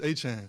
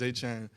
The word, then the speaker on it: Etienne: So growing up, it's Travis Etienne. So it'd be like Achane. And that's how you always said Travis Etienne.